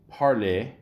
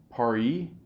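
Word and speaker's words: Paré: Dentistry were being published Ambrose parlay par par it's got the accent on the E often known as the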